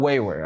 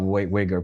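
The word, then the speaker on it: Uyghur: Yes, it's called wayward. Okay. The G's doesn't pronounce. If you ask the wayward people, they will tell you they're wayward people. They're not wiger people.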